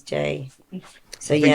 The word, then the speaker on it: Jai: I used to have JAI and then in brackets pronounced because so many people Yeah.